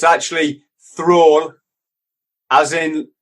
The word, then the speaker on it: Thrall: Did I pronounce that right? Yeah, you can say it how you like, brother. It's actually Thrall, as in Thrall.